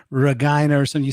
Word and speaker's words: Regina: I don't know how that worked but Yeah, you had an Agra Regina I mean I know the joke writes itself. The city that rhymes with fun like they say yeah.